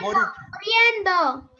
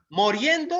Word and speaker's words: muriendo: Muriendo. ¿Moriendo o muriendo? Muriendo. Muriendo con U.